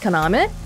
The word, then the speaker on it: Kaname: And I looked it up before this, but in Japanese, you can do this weird thing where your name is written one way, but it's pronounced differently. So my name is pronounced Kaname, but the way they